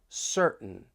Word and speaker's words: certain: words right here and just listen for that glottal T when I say Mountain certain kitten the The Sounds coming from your throat waitting wait and see I I want you to try to listen for that glottal te just wait and see